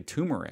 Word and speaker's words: turmeric: is is it i feel like i'd say tumeric so i would pronounce this as turmeric however in australia they